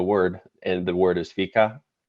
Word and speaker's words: fika: the back story explain explain real quick why fika is it with is that how you pronounce it yes f-f-i-k-a yep okay so we